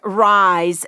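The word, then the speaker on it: Ries: is a book by eric rise that's r-i-e-s and the book is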